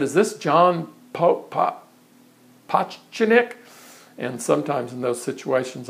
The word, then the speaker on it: Pototschnik: But, you know, a simple way to remember it for you all would be to think of it phonetically. If you think of the author Edgar Allan Poe, and then think of your toe, and then sh and nick, and you put all that together, it comes out Pototschnik, Pototschnik.